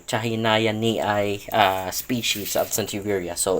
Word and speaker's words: chahinianii: sorry I'm I'm not very uh used to pronounce it but it's chahay ni chahay ni uh species of CIA so it's kind of